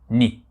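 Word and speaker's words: 二: du bas, et nous avons ici le 2, ni. Et enfin, le troisième, alors ni c'est la prononciation hiragana de ce kanji.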